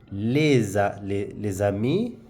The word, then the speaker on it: les amis: So les now this s changes to z. Les amis.